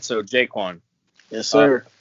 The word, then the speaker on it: JaQuan: All right, so JaQuan. Yes, Uh, sir. it's JaQuan, right? It's not JaQuan. You go. It's JaQuan, right? So it's the second one, JaQuan.